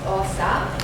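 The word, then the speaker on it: Åsa: rid of it my name is so difficult to pronounce it's a with a circle over like inv in my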